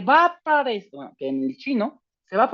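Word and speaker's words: 七: Y el siete no se pronuncia qui porque la Q va a sonar como la ch del chavo del ocho, la ch de los chilaquiles. El número siete es chi.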